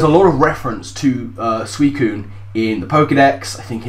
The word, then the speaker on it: Suicune: mispronounce it just then I used to think this thing was pronounced sua seen which is dumb but suicune is going to be